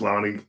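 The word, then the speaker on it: Loni: Well, rest in peace, Lonnie. I called her Loney earlier. Loney. That's worse than what I said. I don't believe so. A mispronunciation. Well, I just didn't know her name. Loney. Loney baloney.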